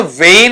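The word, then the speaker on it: wane: जिसे अपन कहते हैं डब्ल्यू ए एन ई। यहां मिलताजुलता उच्चारण ही इसका आपको देखने को मिलेगा। लेकिन मीनिंग बिल्कुल अलग हो जाएगा। ये उच्चारण वेन है।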